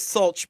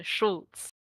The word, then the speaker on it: Schultz: We we we came up with Sulch, but I don't know if that's right. Uh Schultz. Schultz.